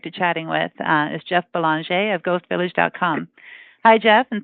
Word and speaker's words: Belanger: But when I'm in Canada or France, I do pronounce it Belanger because it's certainly a French name. But yes. I can usually tell where someone's from when they hit the French pronunciation.